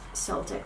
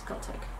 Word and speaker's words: Celtic: Sometimes I'm not good pronunciating or remembering some English words, and I just remember that it's not Celtic, it's not like in Spanish, it's Celtic.